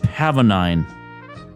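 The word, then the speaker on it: pavonine: It's pronounced learned. Pavanine. Pavanine. I think I hear him coming now. Pavanine. Pavanine.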